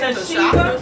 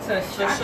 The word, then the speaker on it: Tashaka: Tashika? Tashika. No. Tashaka.